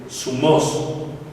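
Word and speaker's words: θυμός: una de ellas era sumos Z u m o acento en la o y es sumos Y esa palabra significa el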